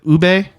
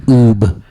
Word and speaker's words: ube: People always pronounce it oob because it's ube, right? Yeah. Is it not ube? Yeah, no, it's ube.